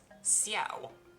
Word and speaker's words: Xiao: game is Adeptus Xiao, with an SH. But the proper pronunciation, as far as I'm aware, is Xiao, with an S, no H.